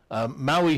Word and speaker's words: Maui: Maui here is spelled M-O-W-E-E, because to the English ear, that's a good spelling of the sound, right?